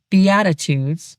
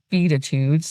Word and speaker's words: Beatitudes: It's biatitudes, not beatitudes like some kind of aggressive jazz band.